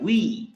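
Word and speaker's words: oui: O-U-I, we, W-E, we. ইংরেজিতে আমরা বলি না we are going to the park, so we, W-E, we.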